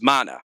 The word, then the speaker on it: Mana: child her name is mana you know just it's pronounced just like secret of mana yeah and if that